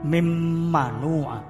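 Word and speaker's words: من منع: Misalnya min manua membaca jadi mim manua, mim manua, mim ini kan mendengung. Jadi harus suaranya mendengung. Mim manu'a. Walaupun tulisannya min manu'a.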